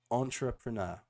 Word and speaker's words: entrepreneur: So let's just practice the pronunciation of entrepreneur. Entrepreneur. Entrepreneur. Yeah. So Entrepreneur. we in a English accent it's entrepreneur. In a French accent, it might be different.